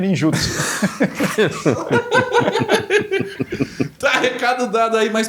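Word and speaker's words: ninjutsu: Como se fala a comunidade Ninjitsu, ninjutso.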